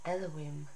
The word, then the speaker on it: Elohim: the sound of din written as yate valhei and pronounced as elowim this is the essence